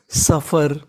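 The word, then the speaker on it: suffer: यहां पे एस यू में जो हमारा यू है वो साइलेंट रहेगा। तो मीनिंग बनी सफर।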